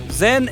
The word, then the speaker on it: Zhen: Zhen est la prononciation du nom de la fille de la dialecte pékin, tandis que la famille Yen est la prononciation cantonaise.